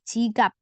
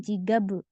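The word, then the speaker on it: 지갑: Sini dibaca P, jigap. Jadi bukan jigab, bukan ya, bukan dibaca B tapi jigap.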